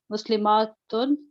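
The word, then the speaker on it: مسلمة: In pronunciation, the only difference between the singular and the plural is the shortness and the length of the a.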